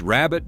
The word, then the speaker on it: rarebit: Pronounced rabbit by everyone who ordered it, this dish contained no rabbit, nor any meat at all.